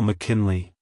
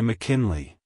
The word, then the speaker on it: McKinley: in Mackin Le and make sure to stress the first syllable also the Le is pronounced as Lee like hello McKinley goodbye McKinley if you found the